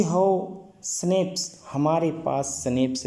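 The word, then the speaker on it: Schnapps: We have स्नेप्स, हमारे पास स्नेप्स है। स्नेप्स तो आप जानते होंगे, इसका प्रोनाउंसिएशन सही से पढ़ना आप लोग।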